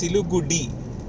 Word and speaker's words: Siliguri: See, in English they are writing Siliguri, RI, okay, but when they're pronouncing, they are pronouncing it as Siligudi.